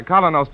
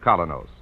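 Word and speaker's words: Kolynos: Keene is broadcast to you by Colonos Toothpaste.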